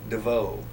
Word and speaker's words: Desveaux: you please give us your full name and spell it Devo a n g u s b l a